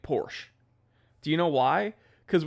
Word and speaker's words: Porsche: I say Porsche. I also don't care about people pronouncing it Porsche.